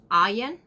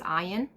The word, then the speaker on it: Aine: your first one is going to be ayan that's how you pronounce and lots of people say aim but it's ioan okay that's your first